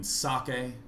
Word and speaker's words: Socke: And I've asked him, he said it's okay that I pronounce it Socke.